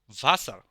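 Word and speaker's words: Wasser: মানে বাবা ডাব্লিউ এর উচ্চারণ হবে ভি এর মত যেমন ভাসার ভাসার মানে পানি এখন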